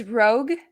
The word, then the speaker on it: Rogue: the two characters was I always say the name wrong so it's rogue rogue yeah like you're going rogue going rogue oh okay that makes sense um because I always